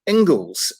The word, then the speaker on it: Inglis: really special guest in his name as Mark Engels and thank goodness it is because we just had a chat beforehand and for some reason I thought that I had been mispronouncing his name all this time which is would be highly embarrassing considering he's a speaker with the central talent but he is indeed the great mark Engels thank you very much